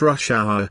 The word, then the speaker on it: rush hour: to 6 30 p.m notice that rush hour is a compound noun with the main stress on the first word isn't that this is